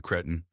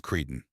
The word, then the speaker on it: cretin: "Listen here, you cretin. First off, it's pronounced cretin.